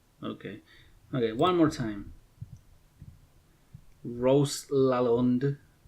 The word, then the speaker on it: Lalonde: Rose Lalonde. How do you say that? Rose Lalonde. Okay, Lalonde.